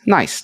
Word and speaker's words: NAIS: today to talk about nice spelled n a i s but pronounced nice like nice things a kubernetes based team